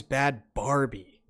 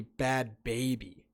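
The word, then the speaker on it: Bhad Bhabie: So I thought it was Bad Barbie, like the fucking doll, but it's actually Bad Baby.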